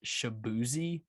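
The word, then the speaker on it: Shaboozey: called beverly hills by i'm gonna say it's shaboozy s-h-a-b-o-o-z-e-y yeah that's boozy that's the easy one it's spelled just like shaboozy all right but this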